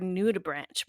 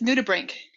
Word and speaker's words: nudibranch: my whole life you i pronounce this word new to branch but it's not is it yeah it's new to brink new to brink see